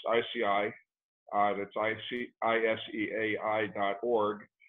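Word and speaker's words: ISEAI: the international society of environmentally acquired illnesses uh pronounced ici uh that's i-c-i-s-e-a-i dot org uh i'm also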